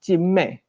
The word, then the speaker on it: 金魅: This monster's name is pronounced as Jin Mei (金魅). It is, however, Jin Cai (金采) in the Taiwanese language.